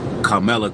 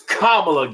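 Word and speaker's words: Kamala: He can't even say her name right. Her name is Kamla.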